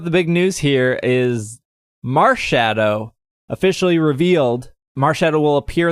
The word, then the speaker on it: Marshadow: Well, I think you should be calling it Marshadow because it's obviously a extra crispy burned marshmallow. So pronounce it like marshmallow.